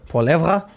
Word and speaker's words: Poilievre: other crimes, retweeting Pierre Poilievre, how do you pronounce that? Poilievre, and criticizing Justin Trudeau and his political allies.